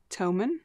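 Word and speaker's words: Thomann: H O M Ann tomen you pronounce th in German T not th to.de is their website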